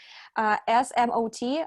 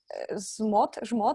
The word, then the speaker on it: ZMOT: well, not feature, but the idea of SMOT. I would pronounce that ZMOT.